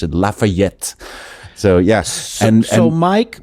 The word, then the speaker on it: Lafayette: how to pronounce it Lafayette so yes and so Mike Michaels Lafayette told me the way to say that is you'll never get laughed at if you say Lafayette uh-huh God there you